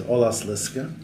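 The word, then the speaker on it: Olaszliszka: To be the proper pronunciation is Olas Liska, which is an Italian-Hungarian word.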